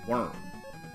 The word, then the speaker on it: Wurm: quick little look at worm spelled with a u Journey to the Center